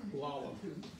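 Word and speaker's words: Lahlum: The original spelling back in Norway was L-A-H-L-U-M. Oh. And so you would say, pronounce it Lalum.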